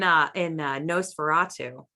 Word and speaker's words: NOS4A2: Yeah, like in Nosferatu, which if you're not familiar with that book, it's a license plate. So that's how you pronounce it, but it's NOS4A2.